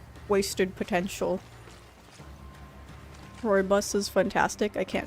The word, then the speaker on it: Rooibos: Like, I remember mispronouncing it for like a few weeks when I moved here and I got exposed to it. I was like, Rubius? Robus? I want some Rubius.